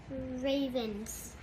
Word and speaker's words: Ravens: vowels um one one so that means most of the time the a is going to be an open syllable and it's going to get to say its name so what does this